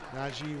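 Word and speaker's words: Nagy: four goals to nil Naj with the goal it is how it's pronounced by the way it's the Hungarian pronunciation he did tell me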